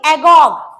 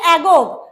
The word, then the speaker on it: agog: उत्सुक, उत्सुक के लिए आप कहिए, स्पेलिंग देखना, AGOG, AGOG, एगोग, इसको बोलेंगे एगोग।